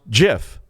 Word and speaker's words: GIF: invented the gif and insisted that it be pronounced jif like the peanut butter will height when anyone